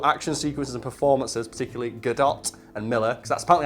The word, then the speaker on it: Gadot: sequences and performances, particularly Godot and Miller, because that's apparently how you pronounce that. Everyone always pronounces it Godot, and then Gal Gadot's, no, it's Godot. Oh, okay. So it's Gal Gadot, which sounds really stupid.